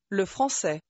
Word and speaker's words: le français: توجه کنید اگرچه میگویید le français، ل به آرامی تلفظ می شود. دوباره گوش کنید. Je comprends le français. Je comprends le français. ل به کلمه قبل از خود اضافه می شود.